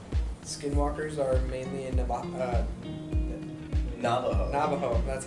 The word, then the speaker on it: Navajo: Navajo, that's how you say it.